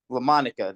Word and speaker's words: Daryl Lamonica: George, Daryl, help me pronounce this one. It's Daryl Lamonica. Yeah, Lamonica.